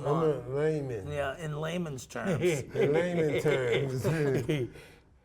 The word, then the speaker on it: Lamon: Lamont. It's not I'm Lamont. a layman. Yeah, in layman's terms. In layman terms. How do you actually pronounce it? Layman. Layman. Layman, yeah. Layman? as in layman's terms.